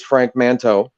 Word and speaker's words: Frank Manteau: So you did pronounce it right. It is Frank Manteau.